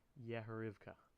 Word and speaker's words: Yehorivka: And I'm also going to go into the Maps folder from this one, and we're going to go to Yehorivka. Thank God I actually pronounced that right.